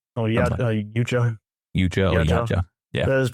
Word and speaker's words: Yautja: Yautja. Oh, yeah, Yautja.